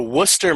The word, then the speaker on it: Worcester: how do you say worth Hashanah sauce also Worcester Massachusetts that's the one that gets everybody yeah